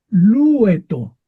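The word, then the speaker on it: λυέτω: Lueto, lueto, lleva el acento en la epsilon.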